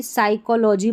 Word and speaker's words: psychology: अब इसमें पीएस से शुरू होगा तो पी का उच्चारण नहीं होगा। तो इसको देखिए साइकोलॉजी पढ़ेंगे, साइकिक पढ़ेंगे, साइट्रिस्ट पढ़ेंगे और यह है साइकट्री।